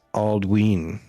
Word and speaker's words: Aldwin: Aldwin is pronounced Aldween. Oh, Aldween, because of the long vowel sound in the Y.